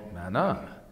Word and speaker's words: manna: And that was called manna. Manna, right? That's how you say it in Hebrew, by the way.